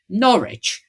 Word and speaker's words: Norwich: my terrible foreign pronunciation norch C is an old one it's one of the old ones isn't it it's like wer yeah it's one of